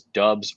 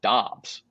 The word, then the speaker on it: Dobbs: Nevada Sportsnet says the initial conversation was whether it was Dubs or Doubs, and Dubs won out.